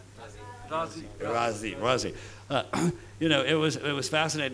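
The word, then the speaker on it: Raazi: Ravi, did I pronounce it correctly? Razi.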